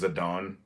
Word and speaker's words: Zidane: think I call him zidane I don't care um but the Japanese pronunciation is zadon but Zidane um and Vivian zidane